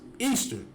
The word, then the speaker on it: Ishtar: Saranzes became known as Ishtar, which is pronounced Easter, and her moon egg became known as Ishtar's egg.